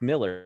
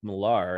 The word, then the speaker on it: Millar: this book went on to do, but Mark Miller, or Mark Millar, as he might be known, depending on your pronunciation, who of course, you know, created Kick-Ass